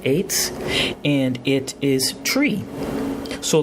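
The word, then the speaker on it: עץ: It's number 6086, and the word is pronounced eitz, and it is tree.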